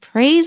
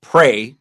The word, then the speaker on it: prey: other insects to survive if you get confused by this word prey because it sounds like it I mean it means to hunt other animals but it also sounds like the word to talk to God if you get confused